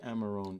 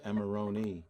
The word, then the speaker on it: Amarone: I saying it right let's just say amarone you don't have to say amaroni because when you say Moroni you change it to a different nationality kind of like emeroni